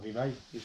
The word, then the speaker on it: Revive: Prononcé en anglais, Revive.